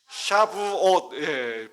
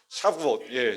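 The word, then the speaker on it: שבועות: 샤부옷. 발음이 참 샤부옷.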